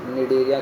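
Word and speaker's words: Cnidaria: निडरिया ठीक है इसको याद किए हम निडरिया के नाम से निडरिया ठीक है आपको भी ज्यादा आराम से हो जाएगा बस इसको याद रखिएगा ध्यान से सी साइलेंट होता है निडरिया ठीक है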